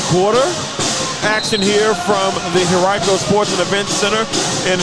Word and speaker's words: Henrico: And ladies and gentlemen, it's not Henrico. It's Henrico. I know the A10 did a real funny video a couple years ago with the players trying to pronounce Henrico, but it is not Henrico, it is Henrico.